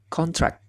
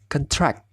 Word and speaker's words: contract: As a noun, contract, maka dia cara pembacanya adalah contract. Jikalau as verb atau sebagai kata kerja, maka dia akan berubah menjadi contract.